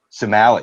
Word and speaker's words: Samueli: and Susan Samuel, or Samueli. I don't know, Brian, what's the pronunciation? Somali. Sumali. Ooh, Somali. Sumali.